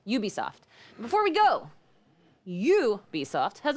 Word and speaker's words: Ubisoft: I say Ubisoft, but it's not right. Ubisoft.